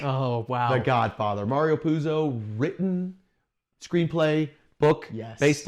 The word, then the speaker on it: Puzo: Now, to just introduce how massive this film is, which I'm pretty sure everybody knows, the writer, Mario Puzo, is that how you pronounce it?